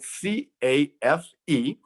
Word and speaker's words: CAFE: efficiency or cafe standards it's spelled c a f e pronounced cafe standards or electrifying the